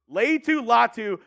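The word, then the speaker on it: Laiatu Latu: call gonna call him lot say that again Leu latu U producer extraordinaire Cullen on the ones and twos giving me the pronunciation for that one but Leu latu from UCLA he honestly could have been one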